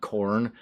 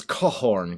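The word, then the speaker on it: Khorne: It's not corn. It's not the sweet, juicy fruit that exists on a log. It is cohorn cuz it sounds like a stab.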